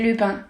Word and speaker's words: Lupin: pronouncing it correctly but lupin in french you say lupine so you you edited